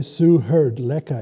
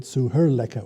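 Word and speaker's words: Suhṛllekha: So the D in the suheard, at the end of the suheard, magically changes into an L. So then you get suherleka, which rolls off the tongue a lot more nicely. So this is what's called sandhi, S-A-N-D-H-I.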